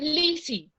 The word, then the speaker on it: Lizzy: saltadito, es Janita, es Lizzy. Es Lizzy. Pero no es con una sola Z. No, es con dos Zetas, pero la pronunciación es como si fuera una Z.